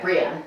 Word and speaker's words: Brianne: Also, is it Brianne and not like Brianne? Am I saying it right? You are saying it right, Brianne.